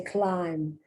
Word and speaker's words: climb: Here, you don't say climb, you say climb. You don't pronounce the B. In fact, it's pronounced as if it was spelled C-L-I-N-E, climb, but it's not.